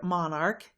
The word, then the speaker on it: monarch: do you mean by ch pronounced soft as it is pronounced in the word church in the word monarch it is said to be pronounced hard and then only s